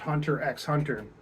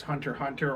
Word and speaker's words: Hunter x Hunter: doing cardio I watched Hunter x Hunter which the x is pronounced in the middle of it I don't care what you say people who's say it's hunter hunter or just wrong you know but it's